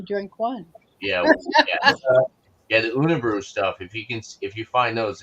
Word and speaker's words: Unibroue: The Unibrew stuff. If you find those, it's UNIBROUE, I believe. Okay. How they pronounce is how that's spelled. But they do very well with their Belgian products.